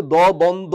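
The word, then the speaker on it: দ্বন্দ্ব: ইউ দ্বন্দ বানানটা দেখেন এখানে কিন্তু কোনভাবেই বফলার উচ্চারণ হচ্ছে না কিন্তু আমি কিন্তু দ বন্দ বলি না বলে কি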